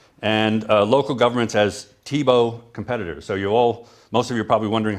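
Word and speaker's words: Tiebout: that's in there and uh local governments as TBO competitors so you all most of you are probably wondering how to pronounce that name it's TBO like the football player and I had to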